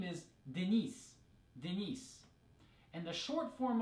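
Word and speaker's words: Денис: sounds very similar right because in English we have the a man's name Dennis with the stress and a different part of the name right Dennis on the first syllable but in Russian that's on the second syllable it's Denise and the short form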